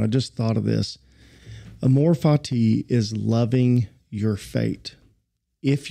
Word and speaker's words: Amor Fati: Did we get the pronunciation right? Ah. Gabe, how do you say it, son? Amor Fati. Okay, you're in agreement with me. Amor Fati.